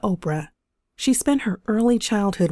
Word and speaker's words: Oprah: not happen by chance her real name was Orpah from the biblical book of ruth but the locals ended up pronouncing the name and evolved into Oprah she spent her early